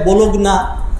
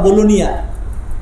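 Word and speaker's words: Bologna: একবার ইটালির বোলোনিয়া একটা সিটি আছে, বাংলাদেশের চট্টগ্রামের মতো বাণিজ্যিক নগরী, বোলোনিয়া, ইংলিশে লেখে বোলোগনা, উচ্চারণ করে তারা বোলোনিয়া।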